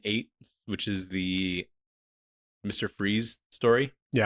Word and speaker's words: Fries: Freeze story. Yeah. Do you know he's his name is spelled like fries? It's pronounced freeze, but it's like f R I E S.